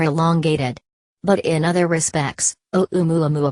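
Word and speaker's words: ʻOumuamua: but in other respects o mu a mu a-- pronounced Oh mwah mwah appears to resemble objects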